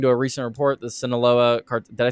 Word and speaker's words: Sinaloa: According to a recent report, the Sinaloa did I say it right? Yep, Sinaloa cartel and the wait, why? Okay, how do you pronounce the A?